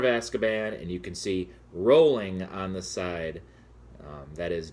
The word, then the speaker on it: Rowling: that is entirely wrong it's actually pronounced rolling like row row row your boat and I cannot believe